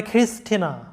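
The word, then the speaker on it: Christina: এরপরে খ্রিস্টিনা, এখানে ক্রিস্টোফার এবং খ্রিস্টিনা এটা রুলসের মধ্যে পড়েছে অবশ্য যে CHR আছে, যার কারণে ক এর মতো উচ্চারণ হয়েছে। এরপর দেখো মাইখেইল, মাইখেইল।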